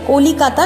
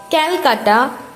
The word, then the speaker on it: কলকাতা: ব্রিটিশরা বাংলার কলিকাতা উচ্চারণ করতে গিয়ে ক্যালকাটা উচ্চারণ করতে থাকে। পরে 2001 সালে পশ্চিমবঙ্গ সরকার বাংলা উচ্চারণের সাথে মিলিয়ে অফিশিয়াল নাম রাখেন কলকাতা।